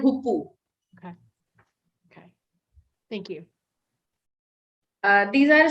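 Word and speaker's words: hoopoe: the name of this bird this is called hupu okay thank you these are spotted outlets uh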